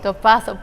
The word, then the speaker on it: Dopaso: I'm trying to do the Portuguese pronunciation of last name. Dopaso. Dopaso, perfect.